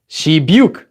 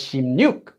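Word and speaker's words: 십육: regular sound change rules, right, this would be pronounced as 시byuk, right? 시byuk. But it's not pronounced as 시byuk. It's not pronounced as 시byuk at all. It's actually pronounced as 심육.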